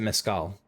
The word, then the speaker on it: mezcal: Is it mezcal or mezcal? I'm looking this up. Alright, I've seen a few different things. It looks like most people pronounce it mezcal.